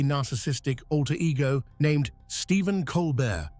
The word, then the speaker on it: Colbert: He created a fictional, hyper-conservative, deeply narcissistic alter ego named Stephen Colbert, spelled exactly the same way, but with a silent T to sound extra pretentious.